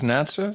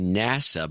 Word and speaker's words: NASA: What is NATSA? National... No, it's actually NASA, but the woman on NPR... pronounces it Natsa.